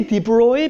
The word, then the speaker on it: de Broglie: I don't know how to pronounce this. I say "de Broy" because when I try to say de Broglie, I can't really say it right.